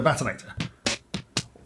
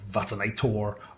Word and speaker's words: Vatanator: So VaTANAtor. VaTANA-tor. I like to think it's pronounced Vatanator because I'm English, but I'm sure there's lots of Americans calling it VaTANator or VataNAYtor or something similar.